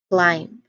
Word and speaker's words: climb: That is the word climb. Again, climb. All right. Here, the silent letter is at the last part of the word, which is b. B. We do not pronounce this word as climb, climb, climb.